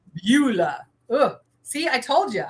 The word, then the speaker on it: Beulah: Is that how you pronounce Beulah. it? Yeah, Beulah. Beulah.